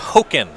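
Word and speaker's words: Hogaak: what it but uh it's pronounced hoken not not hey well now i like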